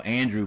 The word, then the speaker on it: Andrew: They say his name is Andrew Brown. Downtown Andrew Brown. Yep. No, Andrew Brown, not Andre.